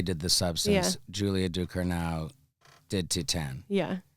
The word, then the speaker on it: Ducournau: Julia, I always say her last name wrong. Julia Ducournau.